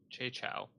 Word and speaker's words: Chow: So Che, how do you pronounce his last name? I don't want Hey, Chow. Che Chow.